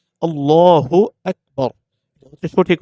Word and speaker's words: আল্লাহু আকবার: অনেকে আজান দেওয়ার ক্ষেত্রে আল্লাহু আকবার একামতের ক্ষেত্রে আল্লাহ ফু এই যে ফু বলে ফা উচ্চারণ করে বা বাংলা ফ পরস্কার ফু উচ্চারণ এটা হচ্ছে সম্পূর্ণ ভুল এখানে হচ্ছে হা পেশ ফু হ্যাঁ হর সুকার হু আল্লাহু আকবার এটা হচ্ছে সঠিক উচ্চারণ এই ভুলটা আমরা করবো